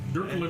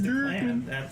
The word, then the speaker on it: Declan: Dirkland. His name is Declan.